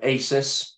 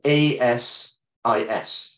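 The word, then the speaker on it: ASIS: a volunteer leader with Asus um it actually it should be pronounced a-s-i-s forgive me International on Enterprise security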